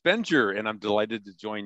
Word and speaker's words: Bengier: The last name is Bengier, and actually it's French Huguenot, goes way back